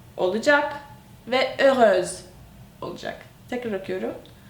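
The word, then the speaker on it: heureuse: çevirirken sonunda ö ü s ö olacak ve ööz olacak tekrar akıyorum ööz yani fark tekrar gör iin Yine okuyorum farkındaysanız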